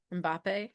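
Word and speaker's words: Mbappé: Is that correct pronunciation? France. No, no, no. Mbappe. Mbappe, yeah.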